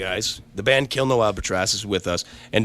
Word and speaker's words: Albatross: Well, before we get into it, introducing you guys, the band Kill No Albatross is with us. And did I say it right? Albatross? It'd be Tross.